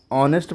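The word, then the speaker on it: honest: लिखा है जैसे ऑनेस्ट अब इसको ऑनेस्ट पढ़ते हैं नेस्ट नहीं पढ़ते हैं यानी एच साइलेंट है ऑनेस्ट पढ़ ले अब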